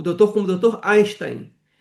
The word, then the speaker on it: Einstein: o meu nome é Einstein." Eh, porque nos Estados Unidos o e I faz o som do I.